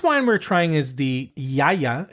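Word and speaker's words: Gaia: so the first wine we're trying is the yaya it's spelled g a i a but the it's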